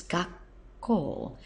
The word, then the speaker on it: 学校: but you'll notice that when you put them together it becomes gak and that's simply because it's quite hard to actually say gaku gaku gak very tricky so they abbreviate it to make it easier to say and it becomes gak call and the actual meaning